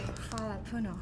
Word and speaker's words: hvala puno: Say, hvala puno. What? Thank you. How do you say this? Fala Puno.